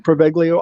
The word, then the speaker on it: Poveglia: And it's known as, correct me, Chris, if I'm wrong, but it's pronounced Poveglia Island.